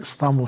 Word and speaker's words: İstanbul: İ ile I arasında I'ya yakın bir şekilde telaffuz edilir. İstanbul şekliyle telaffuz edilir.